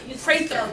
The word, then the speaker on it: Prather: So the next speaker is going to be Dr. Prather, I believe is the correct pronunciation. It's close enough. Okay, works for me too. Prather. P-R-A-Y. Oh, okay, perfect.